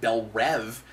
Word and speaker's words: Belle Reve: raw shows and things I should say we pronounce it Belle Reve and it does only have one E and